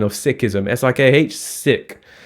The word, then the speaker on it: Sikhism: It comprises also Buddhism and Sikhism, which is correct pronunciation of Sikhism. It is not Sikhism. Yeah, it's not like let's go hide and play Sikh.